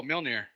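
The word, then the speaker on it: Mjölnir: Can't pronounce that shit either. What kind of words are these? It's MJOLNIR. Oh, Mjolnir.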